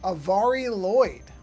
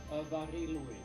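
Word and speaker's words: Mari Lloyd: Apparently the way to pronounce it is Avari Lloyd. I was mispronouncing it very badly. Okay. Okay, here, I don't know if you probably won't hear. I'll do it again. Avari Lloyd. Avari Lloyd. That's amazing, because it's spelled M-A-R-I.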